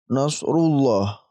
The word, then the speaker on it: Nasrullah: juga baca tebal tetapi ketika huruf sebelumnya ini berharakat kasrah ya maka kita baca tipis contohnya di sini di atas ada bismillah millah ini tipis dibacanya tidak tebal seperti tadi Nasrullah ya perhatikan bedanya teman-teman Nasrullah bismillah yang pertama ini tebal ya Nasrullah yang kedua tipis bismillah Nah itu adalah lafdzul